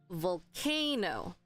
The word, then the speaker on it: volcano: um volcano volcano volcano So based on here K is the point of stress volcano okay again I'm going